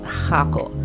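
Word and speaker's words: Jacó: you are in the Jocko area and again you do need a car because it is located off the main road and no buses drive here okay I mispronounced it is hako the beach at hako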